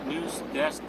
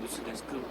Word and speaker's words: 뉴스데스크: 원래는 악센트를 넣어가지고 뉴스데스크 이렇게 발음을 해야 되는데, 뉴스데스크 이렇게 발음을 해야 되는데 사람들이 그냥 뉴스데스크 이렇게 발음하죠. 자기는 그거를 정확하게 발음을 한다라고 생각을 하고 있는데, 하지만 발음을 들어보면은 악센트가 없다.